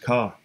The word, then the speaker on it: Cathair: The town or city or Ac, or the serpent, from Cathair, pronounced Ka, a town or city.